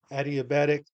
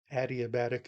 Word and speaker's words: adiabatic: gets hot that's called adiabetic temperature rise adiabatic I've heard it pronounced different ways but I think adiabatic is the proper way to say that but you know that's